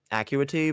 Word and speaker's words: Acuity: I know it's technically pronounced Acuity, but like as a lake name, it makes more sense that it would be. I don't know. It just flows better when you say it wrong.